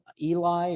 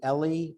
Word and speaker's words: Ely: remember, is it John Eli or Ellie, the famous. I always thought it was Ely, John Hart Ely, is how I John Hart Ely, learned to pronounce it.